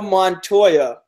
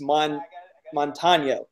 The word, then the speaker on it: Montano: He literally has my first name, Montoya. Montano. Excuse me. Montoya. I like that one better. No, I got to do it right. It's Montano. I got to say it right.